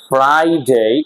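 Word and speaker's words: Friday: যেমন আমরা দেখতে পাচ্ছি ফ্রাইডে, এখন কিন্তু ফ্রাইডে বলতে পারবো না, ফ্রাইডে, আর এরপরে কি দেখতে পাচ্ছি আই, and that is vowel.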